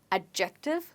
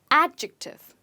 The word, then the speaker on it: adjective: So guys, it's not adjective, but it's adjective. Try it again. Adjective. And the stress is on a.